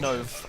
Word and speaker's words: Nove: Nove, correct.